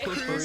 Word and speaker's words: Crews: Cruz is spelled C R E W S.